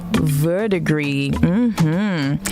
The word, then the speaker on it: verdigris: so the word for the day is verdigree Verdigris so that is spelled v-e-r-d-i-g-r-i-s Verdigris now Verdigris is a green